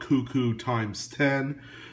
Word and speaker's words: KOOKOOX10: I call it Cuckoo times 10, but it's spelled KOOKOOX10.